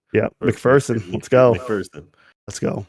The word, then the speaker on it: McPherson: He pronounced it fear or Ferson? Fear. Oh, nice.